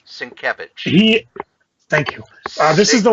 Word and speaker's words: Sienkiewicz: Me and my pronunciations. Cacophony. Cacophony. It's Cacophony. Thank you. Number 2, the variant cover by Bill Sandwich. Sienkiewicz.